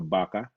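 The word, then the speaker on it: vaca: caballo um common okay baca used to be the letter v so bacca uh in spanish they don't pronounce the letter v they pronounce it like a bee so thanks uh david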